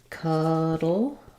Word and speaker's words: cuddle: cuddle versus coddle so in cuddle uh we have the schah vowel so it sounds like cudle in cudle we have the open a vowel and this difference the